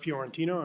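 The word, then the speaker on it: Fiorentino: Chair Watts, members of the committee, my name is Fjorantino. I'm with the law firm of um Kemper Croll. My last name is spelled F I O R E N T I N O.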